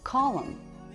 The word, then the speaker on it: column: Column. This word has a silent N at the end.